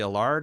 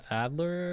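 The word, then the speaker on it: Adlard: Well, not only that, but like uh say what you will about Charlie Allard. Is that how you pronounce his name? Adler.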